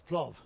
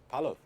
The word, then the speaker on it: palov: This is plov. Yeah, How do I say it correctly? palov. Oh, palov. Plov. Palov. Plov in kind of in Russian or English, palov in Uzbek.